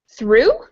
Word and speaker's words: through: um we also have words like through where the GH is silent and the one from